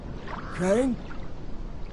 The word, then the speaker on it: Crane: Crane? Crane rhymes with train, and brain, and sane, and grain, and rain, and plane, and the other kind of plane, and...